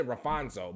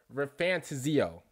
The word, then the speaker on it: ReFantazio: you say it RAF I was about to say rafano but it's actually metaphor ranto that's how you say I just killed that